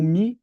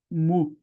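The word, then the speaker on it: μ: Uma observação é que em algumas gramáticas você vai ver como mi o nome dessa letra, em outras gramáticas não como mi, mas como mu. Mas é a mesma letra. É porque na verdade a pronúncia dela seria algo como m. Então alguns dicionários vão escorregar pro i, outros vão pro u.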